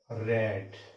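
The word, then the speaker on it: read: अब यहां पे देखिए, ये चूंकि रीड का जो है V1 V2 V3 स्पेलिंग क्या होता है, इसका सेम होता है, लेकिन इसको पढ़ा क्या जाता है, रीड, रेड और रीड, क्लियर।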